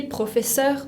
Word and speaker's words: professeur: Je suis professeur de français. La R final de professeur se pronuncia como en la garganta, professeur de français.